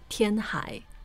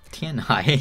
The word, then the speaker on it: Tianhai: Yeah, well, he's the first character, I think, whose name is identical in Chinese and English. Yeah. Chinese. Tianhai. And English. Tianhai.